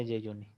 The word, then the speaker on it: jejuni: G juni de Yuni se pronuncia Yuni.